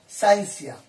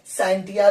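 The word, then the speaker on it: scientia: है या साइंसिया साइंसिया दो हिसाब से आप किसी को बोल सकते हो एस सी आई ई एन टी आई ए साइंटिया भी बोलते है बहुत सारे पर्सन इसको साइंटिया भी प्रोनाउंस करते हैं और साइंसिया भी कर सकते हैं य या साइड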